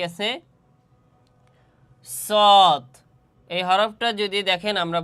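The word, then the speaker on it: ص: ঠিক তেমনিভাবে এই সদ হরফটিও জিহ্বার আগা সামনের নিচের দুই তাতের আগা এবং সামান্য মধ্যখানে লাগাইয়া এই সদ হরফটি উচ্চারণ হবে। দেখেন আমি কিভাবে উচ্চারণ করি। সদ সদ সদ সদ।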